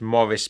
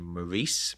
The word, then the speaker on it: Maurice: writer in question is Morris bearing I think America's normally pronounced the name Maurice but I'm sorry I I can't do that so Morris bearing b